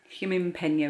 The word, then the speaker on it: Gimingpeno: a combination of a few words ginger so it's spelt g-i-m-p-e-n-o human penal is how it's pronounced it's made up of